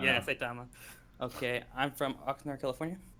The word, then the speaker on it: Saitama: You don't know Satima? That's how you Well, pronounce his name, right? Yeah. That would actually be really Saitama. Yeah, Saitama.